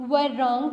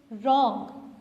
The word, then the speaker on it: wrong: इसको आप वर रॉन्ग तो नहीं कहते, आप क्या कहते हैं? रॉन्ग. ये वर रॉन्ग तो नहीं है ना, ये क्या है? रॉन्ग.